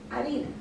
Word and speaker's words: harina: trying to do, but in this case, the H doesn't have any pronunciation. So you would just say harina, and that allows them